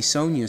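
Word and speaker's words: Sonja: See, Sonia is spelled with a J. Isn't that kind of neat? A J usually makes a J sound, but in Sonia, it makes a Y sound.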